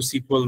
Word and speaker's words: SQL: তো আমরা কাজ করতে গেলে এটা অনেকবারই উচ্চারণ করতে হবে। আমরা এটাকে কি বলবো, সিকিউএল নাকি এসকিউএল? দুইটাই রাইট, দুইটাই রাইট। কেউ এসকিউএল বলে, কেউ সিকুয়েল বলে।